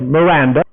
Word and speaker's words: Miranda: Miranda, normalmente pronunciado con la pronunciación en inglés Miranda, fue uno de los primeros lenguajes funcionales.